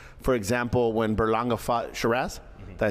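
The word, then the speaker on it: Sheeraz: talks about like for example when Berlanga fought Sharazz. Did I say it right? Sharass.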